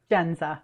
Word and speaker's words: Jendza: do you pronounce it jenza jenza okay great so welcome i'm sorry so the d is silent genza yes okay well thank